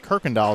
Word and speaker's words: Kirkendall: Kirkendall is how it's pronounced.